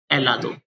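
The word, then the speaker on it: helado: एच हमेशा Spanish भाषा में साइलेंट रहता है, इसलिए अपन ऐसे स्टार्ट कर देंगे, एलादो।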